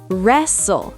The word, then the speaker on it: wrestle: Wrestle. Silent W.